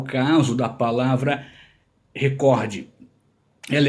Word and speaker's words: recorde: E a palavra recorde é uma palavra paroxítona. Então, se houvesse um acento, não é se tivesse, se houvesse aqui um acento, existisse na palavra recorde, ela seria então na sílaba do meio, recorde, mas não tem. Se tivesse, seria recorde. Então, sempre que ouvimos alguém falar em recorde, está errado. Não importa quem falou, está errado.